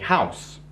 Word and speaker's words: house: Mais, par exemple, a house. Ça commence par un H, mais on prononce le H. Donc, on dit a house.